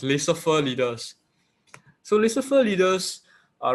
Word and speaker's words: laissez-faire: This word is pronounced laissez-faire leaders.